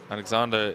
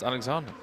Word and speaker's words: Alexander: Alexander is pronounced Alexander.